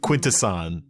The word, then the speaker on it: Quintesson: you're mispronouncing that charles i am not i am pronouncing it correctly quintesson that's how you say it listen charles language